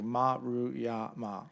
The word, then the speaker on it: Maruyama: the Japanese names, it's easy. You just take it syllable by syllable. Everything's broken up into Maruyama, like all Japanese names.